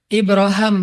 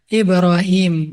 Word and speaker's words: Ibrahim: Kalau dalam salah satu qiraat itu bacanya Ibra Ibraham. Makanya orang Inggris nyebutnya Abraham. atau bisa juga dibaca Ibrahim.